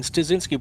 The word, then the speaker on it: Stazinski: polish card this weekend I've been mispronouncing his name I keep on throwing an r in there it's Brian stazinski Brian thank you he's